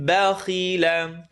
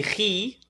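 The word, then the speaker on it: بخل: من بخيل وأما من بخيل. It's a heavy letter with a line on the bottom. Don't say khi. بخي. Ba light. Kha heavy. Lam light.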